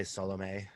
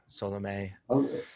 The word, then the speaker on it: Salome: you pronounce her name i pronounced them both salome but uh we could say solome solomay it's interesting because uh